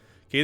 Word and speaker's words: Kaede: Since it looks Japanese, I would pronounce it Kaede.